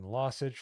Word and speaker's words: lossage: Lossage rhymes with sausage.